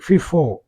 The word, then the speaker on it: FIFO: இது எப்படி உச்சரிக்காங்கன்னா எஃப்ஐஎஃப்ஓ அப்படிங்கிறத கம்பைன் பண்ணி ஃபிஃபோ அப்படின்னு உச்சரிக்கிறாங்க.